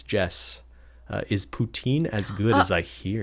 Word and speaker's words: poutine: Is poutine as good as I hear it is?